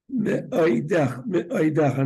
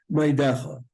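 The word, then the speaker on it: מאדך: B'chol nafshecha uv'chol me'oidecha, not meidecha, but me'oidecha. You got to be more deliberate.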